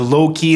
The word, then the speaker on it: Louqe: it is the look The low-key and cloak I think that's how you pronounce it Loki look the Swedish